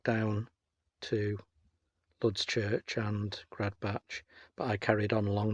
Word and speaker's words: Gradbach: and parked here at grad batch just poop some people pronounce it grad back buyer who said crud